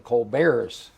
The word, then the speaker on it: Colbert: Mark Sanford and on the Democratic side Steven Co Bear's Elizabeth yes who pronounces it Colbert yes so we'll see how that comes it